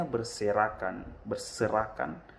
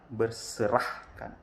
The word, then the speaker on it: berserakan: Kemudian kesalahan fatalnya adalah pengucapan kata berserakan. Semestinya berserakan bisa. Tapi dia ucapkan berserahkan.